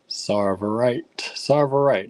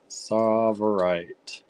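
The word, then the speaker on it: Tsavorite: Yes, pronounced like Czar. Sarverite.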